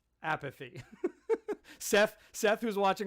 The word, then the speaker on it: Appice: encourage you to Gwen, I know I said apathy. Appice is his brother's pronunciation, Gwen. And you'll see in this video, we had a big discussion beforehand. Vinny likes to go by apathy.